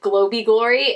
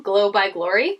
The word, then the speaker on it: Glow by Glory: and i think i i pronounce it like globey glory and afterwards i was like katie it was probably glow like glowing glow by glory anyway this brand is